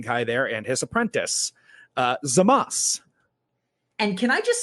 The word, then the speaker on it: Zamasu: You do not pronounce the U. That's not how Japanese works. Yeah, he's Zamas, not Zamasu.